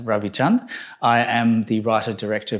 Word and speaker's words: Ravi Chand: Hi, my name is Ravi Chand, or as it's supposed to be pronounced, Ravi Chand.